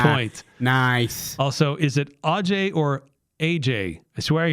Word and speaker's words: Ajay: I mean, they're like, how do you say your name? Is it Ajay? Is it Sanjay? Or is it Anjay? Like, it's not hard, people, but they make it hard.